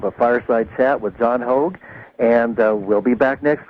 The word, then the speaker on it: Hogue: my site is called hog prophecy calm that's like hoga spelled like rogue with an h h o gu e